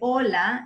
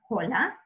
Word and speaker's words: hola: hasta and we say Ola not Cola the H is silent but all the other letters are always read so Spanish is read